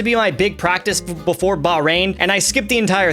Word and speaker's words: Bahrain: I've been pronouncing it wrong. Bahrain.